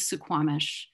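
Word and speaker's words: Suquamish: situated on sukhoibc land we pronounce the anglicized version of sukhwabsh is tsukwamish so we acknowledge that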